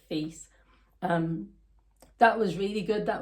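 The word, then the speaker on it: Fils: I think it's Phils. I don't think you'd pronounce it like that, so it might be like Fees.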